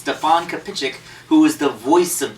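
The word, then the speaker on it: Stefan Kapičić: told me his name was supposed to be pronounced Stefan kichic who is the voice of Deadpool so um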